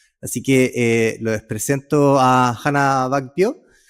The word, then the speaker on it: Hanna Back Pyo: Ella es Hannah Back Pio, ¿cierto? Así se pronuncia, ¿está bien?